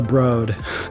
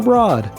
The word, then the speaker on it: Broad: another excellent museum the broad one of my la friends told me i was pronouncing it wrong i was calling it the broad and next door to